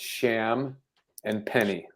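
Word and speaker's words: Champagnie: It's Sham and Penny. Champagne.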